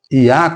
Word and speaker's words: Yah: A pronúncia Iá contida no sufixo da palavra hebraica, aleluia, como também no prefixo